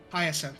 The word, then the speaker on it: Hyacinth: I don't know how to pronounce this. Hyacinth. Hyacinth, thank you.